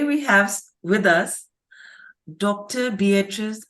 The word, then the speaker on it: Beatriz: Beatriz R. Olson. I pronounced that right?